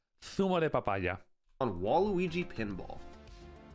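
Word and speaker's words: zumo: The letter Z in Spain is pronounced like a TH because we all have lisps for some reason here. So it's Thumo. Thumo de papaya.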